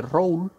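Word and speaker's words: Rolle: propiamente el teorema de road en francés se pronuncia road para ello para encontrar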